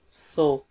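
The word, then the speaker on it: سو: And the last one is 100, so, so. It sounds similar, we say so, like we say so what happened.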